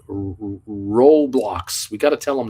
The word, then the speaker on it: Roblox: we have to tell Uncle Bruce that it's pronounced Roblox we got to tell them that uh Nick